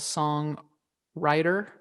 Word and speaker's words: Song Writer: for a podcast called song writer and i i say it like that because the w is uppercase where they pair a